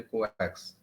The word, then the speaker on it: coax: Okay, it is also known as, sometimes known as your coax and pronounced as a coax.